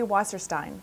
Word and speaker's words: Wasserstein: She grew up in Brooklyn, though, so she pronounced her last name Wasserstein.